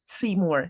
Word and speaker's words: Seymour: the mouse oh and his name is in English would be see more foreign so that was